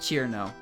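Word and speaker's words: Chirno: her into kirin kirito no it's pronounced cheer now no it's the same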